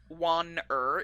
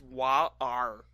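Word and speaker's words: Wan'er: It's not Wan-er, it's Wa-ar.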